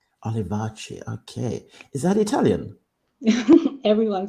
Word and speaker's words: Olivacce: i need to your surname how do i pronounce that again um it's olivarti alibachi okay is that italian everyone says everyone asks